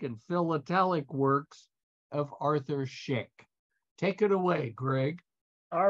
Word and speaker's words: Szyk: to talk about Arthur Schick and uh although it's pronounced like the razor you can see it's